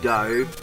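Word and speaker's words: Doh: jump there's dough himself i presume he's pronounced dough spelt d-o-h a little bit harder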